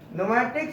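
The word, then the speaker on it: pneumatic: hydro motor न्यूमेटिक में न्यूमेटिक cylinder और न्यूमेटिक cylinder P एन यू M eighty I सी ट cylinder P एन ई यू एम ए टी आई सी नोमेटिक cylinder न्यूमेटिक cylinder ठीक है प silent है प क्या है साइलेंट है और सर्वो ड्राइव में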